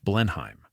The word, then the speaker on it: Blenheim: The building would be named Blenheim, the English pronunciation of Blindheim, ensuring that the victory would never be forgotten.